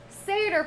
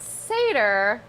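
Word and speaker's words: satyr: check it out but seder plays were the last category of greek plays and the word seder seder sounds and is spelled pretty much like the word satire so that is what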